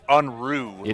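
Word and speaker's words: Unruh: pronounce Josh's last name it's unru like unruly yes yes that's what he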